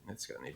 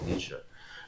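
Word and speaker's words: Nietzsche: He's written about all this but he's he wanted a book by Nitzka and they said Nitzka oh he was mispronouncing Nisha and then and then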